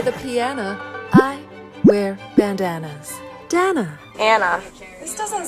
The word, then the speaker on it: Dana: Hi, my name is Danna. Rhymes with banana. I'm from Montana. I play the piano. I wear bandanas. Danna. Anna. This doesn't say Ana, does it?